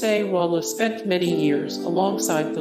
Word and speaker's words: Sexwale: As a political activist, Sexwale, pronounced Sewala, spent many years alongside the late Nelson Mandela as a prisoner of war during apartheid.